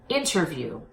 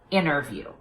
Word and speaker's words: interview: you see an NT between vowels I recommend that you pop the T so I want you to say interview instead of interview now will you hear